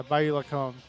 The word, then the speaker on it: Bayou Lacombe: But then you got the Bayou Lacombe Cardinals. Did I pronounce that correctly, Noah? Yeah, Bayou Lacombe.